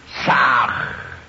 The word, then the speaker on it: Sah: Ham se escribe con las letras H-A-M. Sah se escribe con las letras S-A-H. La H suena siempre como J.